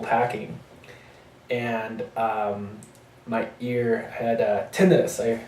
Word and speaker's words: tinnitus: and my ear had tinnitus. I learned it was pronounced tinnitus. I've been pronouncing this tinnitus my whole life, but it's pronounced tinnitus.